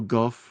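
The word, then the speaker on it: Gough: Alfred him or um uh Michael Goff or Go, however you say that. Goff, I think how you say it.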